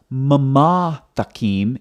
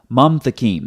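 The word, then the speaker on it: ממתקים: So it's not mama takim, it's mam takim. That's why when you look at the transliteration over here, it's one syllable, mam, not mama.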